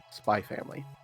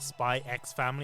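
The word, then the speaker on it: Spy×Family: Spy family. So for me, the spy family, when people call it spy x family, I'm like, "No, don't.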